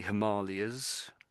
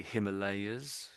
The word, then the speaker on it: Himalayas: So I think I've heard some people say Himalayas. Some people say Himalayas. So probably most people say Himalayas I would say in the UK but people who've been to been to India end up saying Himalayas. I've heard a lot of people come back from India and say Himalayas. So there's different ways of saying it. So you may hear both ways what I'm trying to say really.